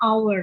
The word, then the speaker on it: hour: Karena dibacanya hour. Dibacanya hour. Karena dibacanya hour. Gak ada haknya.